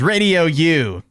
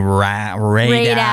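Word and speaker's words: Raidou: to pronounce it, but they have the D and the I switched. Oh. So it's R A I D O U. So like Ray or something like that.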